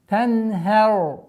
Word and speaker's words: تنهر: Здесь твердое произношение только звука ра. تَنْهَرْ.